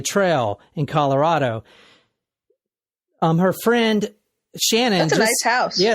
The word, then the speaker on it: Shanann: So it's like Shannon, but Shanann. I think it's pronounced Shannon? Yeah, no, it's pronounced Shannon.